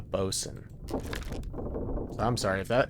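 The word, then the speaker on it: boatswain: Um, bosen. It's like the bow. The bow of the ship. a bosen.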